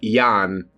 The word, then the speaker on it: Jan: It's spelled Jan, but pronounced like Jan. Ano Jan! Hamthrax emits a loud shriek and mews, Jan! You know, like Brady Bunch Jan.